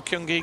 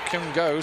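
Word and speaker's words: kyong-go: And so no kyungi given there. Kyungo, sorry.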